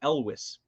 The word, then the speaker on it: Elwes: He said Elvis with a W, so Elwes.